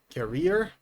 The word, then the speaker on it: career: As you see, they are written in different ways, but they're also pronounced in different ways. Career. Carrier. And as you see, the pronunciation is different.